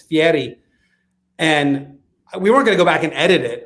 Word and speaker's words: Fieri: he he said it's i said guy fieri and he said it's fiery and we weren't going